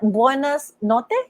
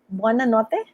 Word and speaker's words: buonanotte: How do you say that? Buenas notte? Is that correct? Buona notte? Buonanotte, buonasera.